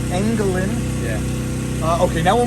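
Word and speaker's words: Engelen: How do you spell that? E N G E L E N Angalin.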